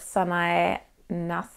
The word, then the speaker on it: Nasu: and the designer is Sanae Nasu? Probably Sanae Nas, because you don't always say the U at the end of Japanese.